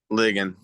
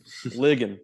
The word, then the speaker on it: Ligon: Ligon. Ligon.